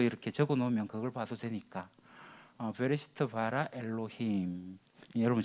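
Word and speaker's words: בראשית: 베르시트, 좀 더 발음을 하게 되면 베레시트가 됩니다. 우리가 베트, 알렙벳 할 때 베트를 배우는데 이 베트가 그자하고 비슷하거든요.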